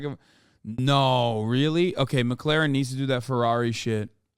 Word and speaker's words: McLaren: pisses me off because he says the name wrong like eight times in a row it's not McLaren it's McLaren Okay so okay we're moving